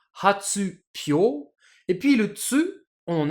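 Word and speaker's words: 発表: ensemble, ça nous donnerait logiquement hatsuhyo. Mais hatsuhyo, c'est super compliqué à prononcer pour un japonais. Du coup, le mot a été transformé avec l'accent sur le hi, sur le hyo, qui devient hatsupyo, et puis le tsu,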